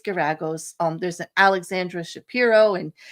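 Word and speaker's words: Geragos: I did say Terry Garagos' name wrong. I said Grangos or something, but it's Garagos.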